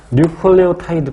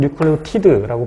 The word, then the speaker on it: 뉴클레오타이드: 뉴클레오타이드 또는 뉴클레오티드라고 발음하죠.